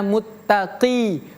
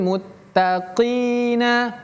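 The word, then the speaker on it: مُتَّقِينَ: Q berbeda dengan qof. Qoqiqu. Jadi bacanya muttaqi. Muttaqi. Huruf qof itu merupakan salah satu huruf yang tebal. Innal muttaqina muttaqi.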